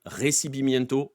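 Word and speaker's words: recibimiento: ne l'avez jamais vu à écrire recibi miento comme ça se prononce r E C i B i m I e n t o peenarol Santos 2011 et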